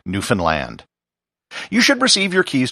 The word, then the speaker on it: Newfoundland: And as for the pronunciation, I just remember the rhyme that was told to me on the ferry as I came over from Nova Scotia. Understand Newfoundland.